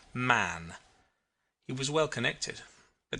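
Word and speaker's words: Mahon: his name was was Mahan but he insisted that it should be pronounced man he was well connected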